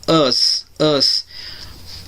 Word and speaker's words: us: Para o nós, a gente vai ter us. Pronúncia. Vocês vão fazer como vocês fazem assim, quando vocês dizem que uma pessoa é lesada. Assim, ó. Us. Não é um A, não é um O.